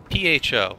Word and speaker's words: pho: P-H-O. Let me show you. Just like this. You know, it's not the way you would expect it to be, but it's pho.